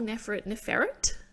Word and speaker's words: Neferet: First of all, they call Neferet. Ooh. Yeah. Neferet. Yeah. It's giving me like you know, like a ferret, like rodent exactly, vibes.